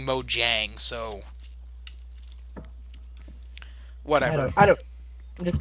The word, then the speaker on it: Mojang: the mo uh Mojang did you almost say moyang I that's what I always called it for years because that's the actual sweetest pronunciation but I've had people yelling at me Mojang so whatever I don't